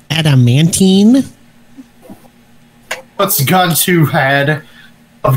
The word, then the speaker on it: adamantine: glasses on those um actually it's pronounced adamantine what's going to head